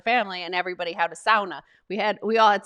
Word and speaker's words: sauna: handle and it's like the english-speaking world saying sauna right yeah and and then the cat the finnish cat is like sauna no it's sauna every time somebody says